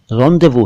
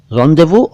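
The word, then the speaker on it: rendezvous: लफ्जों के बारे में इतनी गहराई मत जानिए, बल्कि इतना जान लीजिए फिलहाल कि इस पर्टिकुलर शब्द का उच्चारण रॉन्डेवू है। रॉन्डेवू और रॉन्डेवू दोनों हैं।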